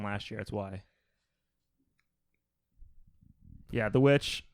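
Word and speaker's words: The VVitch: It's spelled Witch with 2 V's instead of a W, but that's misleading. It's just Witch.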